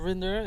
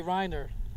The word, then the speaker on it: Rinder: giving him okay well they have said my name wrong a few times sure and it's not so difficult rinder and they say reiner reindeer reindeer yeah so i'm sorry